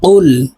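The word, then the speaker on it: قُلْ: নিন কফ লাম পেশ কুল কুল আমরা অনেকে কুল এভাবে বলে থাকি কফের উচ্চারণ জিহ্বার গোড়া থেকে উচ্চারণ করতে হবে কুল কফ লাম পেশ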